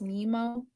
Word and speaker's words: Naima: His name is spelled Naima and pronounced Nemo.